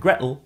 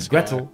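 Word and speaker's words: Gretel: Hansel comes from Hansel and Gretle which is more like Hansel and Gretle in cocknney pronunciation and Gretle rhymes with Kettle.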